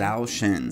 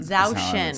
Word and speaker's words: Zhou Shen: This is memory, help me with this pronunciation again. Zhou Shen. Zhou Shen, because I feel like you said it very well.